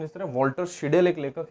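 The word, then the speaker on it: Walter Scheidel: ठीक है, इनका प्रोनाउंसिएशन इस तरह, वॉल्टर शिडेल एक लेखक है।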